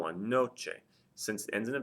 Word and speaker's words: noche: the stress falls on the second to last syllable, there is no written accent mark there. So here's the word noche, for example.